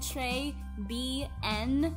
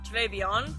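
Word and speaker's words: Trés Bien: I thought you were saying Trey B N, like the letters. I didn't get it. I can't speak French, okay? How do you say that? Beyond. Oh, Trey Beyond? Mm-hmm. Oh. I thought it was Trey B N this whole time.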